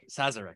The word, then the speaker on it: Sazerac: okay I'm gonna have a really bad time pronounce this says Sazerac Sazerac thank you George Megan Incorporated are being sued